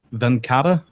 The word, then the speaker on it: Venkata: This is obviously the product image, and it's from yourself, from Edmund, and from Venkata. Am I pronouncing that correctly?